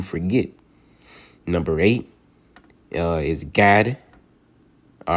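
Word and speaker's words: גד: number eight uh is God all right in the Hebrew you pronounce it as God like you're saying God all right in Hebrew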